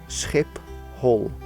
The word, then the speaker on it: Schiphol: you'll probably fly into Schiphol hip hole people now obviously skee-ball has the very difficult sound for non Dutch speakers okay but if you